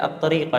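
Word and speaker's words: الطريقة: Wa tariqul ladzi yahsulu bihi sakhatullah, dan Nabi sallallahu alaihi wasallam menjelaskan juga, harusnya dibacanya at-tariqah ya. Maktub kepada at-tariqah yang pertama tadi.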